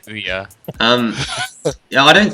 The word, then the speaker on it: Ouya: get hua or whatever how do you even pronounce it I say some people say oh yeah yeah either way I say oh yeah um you know I